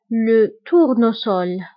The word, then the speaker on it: tournesol: فبالنسبه لو تورنوسول فهنا حاله استثنائيه، فدائما كنقول لكم اس الى جات اونتر دو فويل، فالى جات اونتر دو فويل فكنطقوها بزد، فهنا حاله خاصه لو تورنوسول اس. فهنا S جات entre deux voyelles ولكن قريناها بS ماشي بزد.